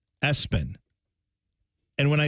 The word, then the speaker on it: Espen: Dad campaigned with mom and said, how about we make his middle name Espen? And when I say that, I mean ESPN, spelled out, pronounced Espen.